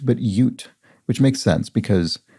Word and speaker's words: Ute: it is uh not ut but yut which makes sense because the state of utah is named after this people and so it stands to reason it would be pronounced that way ute okay bus excursions